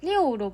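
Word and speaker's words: 六: 6은 리오로 발음되어 순조롭다 라는 뜻을 가진 한자 리오와 발음이 거의 일치합니다.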